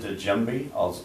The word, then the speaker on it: djembe: do you play the djembe as well? Is that how you pronounce it?